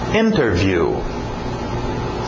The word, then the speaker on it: interview: Interview. Interview. Geralmente pronúncia rápida, cai o T, fica só interview, igual internet, né? Interview, sem o T.